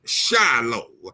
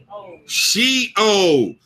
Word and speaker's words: Sheol: And Shiloh, am I saying that right? Shiloh, yeah, I ain't saying that right. Skip that word. I can't say it right. Mercy God. Help me pronounce this word, God. I'm sorry, y'all. I hate to be trying to pronounce a word and I ain't pronouncing it right. So I'm gonna open up my thing and make sure I say this word right. Sheol.